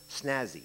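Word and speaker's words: snas: Snazzy, adjective, polished, glossy, lustrous, classy, origin, unknown.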